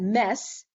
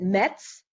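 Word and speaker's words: Metz: mess i pronounce that mess which is the way the french pronounce it but the anglophones and and german speaking people pronounce it mets but one of the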